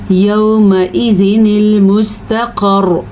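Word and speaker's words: يَوْمَئِذٍ الْمُسْتَقَرُّ: यौमइज़िनिल मुस्तक़र। ठीक है, मोटा कौफ पढ़ना है। रॉ पे थोड़ी सी तकरार होगी क्योंकि हमने रॉ को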